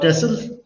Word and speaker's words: Texel: he is here to talk to you about tesla i'm going to say tesl because that's the right pronunciation but it's also tech sim t-e-x-e-l and